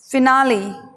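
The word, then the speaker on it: finale: जब आगे ई लगा दिया जाए तब देखिए उच्चारण किस प्रकार से बदलेगा, फिनाले, फी ना ली, फिनाले, ई लगाते ही फिनाली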